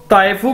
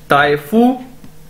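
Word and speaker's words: 大夫: इसी तरह दोस्तों ताइफू का मतलब भी डॉक्टर है, डॉक्टर है। डी को हम चाइनीज के अंदर ते के तौर पर प्रोनाउंस करते हैं, ताइफू, ताइफू इसका मतलब भी डॉक्टर है।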